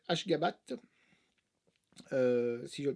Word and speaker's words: Ashgabat: URSS, voilà, la prononciation c'est Ashgabat, si je le prononce bien, 7,3.